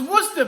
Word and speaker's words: Worcester: playing today we're talking top 10 things about Worcester Mass and yes that's how you pronounce it so you have lots of questions